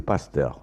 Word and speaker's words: Pasteur: asal Prancis pastel Institute Kalau bahasa Prancis ucapan dan tulisannya memang beda bombardier bacanya bombaki Louis Pasteur bacanya Luwi pastel Montage penemu HIV dan